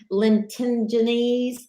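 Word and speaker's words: lentigines: this word right here is called Linton at Linton ginnis and that's how it's pronounced actually that's another term for a freckle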